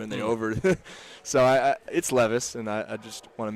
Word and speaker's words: Levis: levis a lot a lot of people say louis because they you see lewis a lot you don't see levis a lot and the v kind of looks like a w and they over so i it's levis and i just want to make that clear